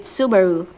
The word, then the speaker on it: Subaru: Well, you write it like suic the word for comet, but you pronounce it Subaru.